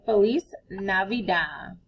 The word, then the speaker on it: Feliz Navidad: We say Feliz Navidad. Feliz is F-E-L-I-Z. That's one word, Feliz. And then N-A-V-I-D-A-D. Feliz Navidad. So you can practice saying Merry Christmas to your family and friends in Spanish. Feliz Navidad.